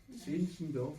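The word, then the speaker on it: Zinzendorf: Sinsendoor comme ça se prononce l' i M e M D O R F euh aristocrate de Césie qui promouvait lui qui était plus sentimental.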